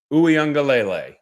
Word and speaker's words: Uiagalelei: out how to say the name it's DJ OU angele now I will from here on out just